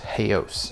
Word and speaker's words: Haos: Oz faction or well I guess it's pronounced hey oz now but either way it's